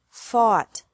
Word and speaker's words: fought: Fight, fought, fought. Seek, sought, sought. Teach, taught, taught. Think, thought, thought. Remember that the G is silent in these verbs.